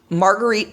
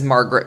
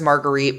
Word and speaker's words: Marguerite: our protagonist of sorts marguerite perrin who was introduced as margaret perrin and you can tell that it is an attempt to anglicanize her name and make it easily pronounceable i'm gonna refer to